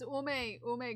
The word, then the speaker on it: Ume: It's Ume green color.